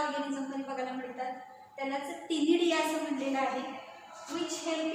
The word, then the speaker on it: ctenidia: Shows numerous gills called as अ टिनिडिया. उच्चार टी पासून करायचं आहे, स्पेलिंग लिहिताना सी पासून लिहायचं आहे, CTENIDIA.